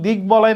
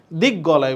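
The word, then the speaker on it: দিগ্বলয়: ক গ হয়ে গেছে সন্ধি নিয়মে গঠিত এই সকল শব্দে ব এর উচ্চারণ হবে কারণ আমরা যদি দিক বলয় না বলি দিক গলায় বলি তাহলে ভুল হবে ভুল শব্দ হবে তাইলে এটা হবে দিক বলয় তাহলে এটা কি হবে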